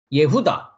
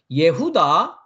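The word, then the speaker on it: יהודה: the Hebrew word number 363 Yehuda that's the pronunciation Yehuda Yehuda we can understand two different way I just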